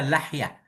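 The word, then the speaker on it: لحية: Bagaimana cara baca lihyah? Bikasrillam. Lihyah. Bikasram afsahu min fathiha. Lihyah lebih baik daripada lahyah.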